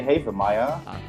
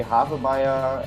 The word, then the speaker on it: Havemeyer: it's pronounced uh yeah it depends on how you ask in the band I think I say haven Meyer but uh I think yes some say half a Maya and uh half Maya